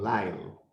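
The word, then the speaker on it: Lisle: called by my name lyle so in case you can't you know figure out how l-i-s-l-e is pronounced it's live like l-y-l-e and my wonderful assistant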